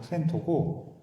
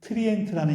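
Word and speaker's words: Trento: 이게 트렌토라고 얘기하면은 조금 이렇게 발음이 익숙하지가 않은데 이탈리아 발음으로 트렌토고 우리가 아 그래도 역사에 좀 관심이 있으신 분한테는 트리엔트라는 이름으로 더 유명한 도시예요.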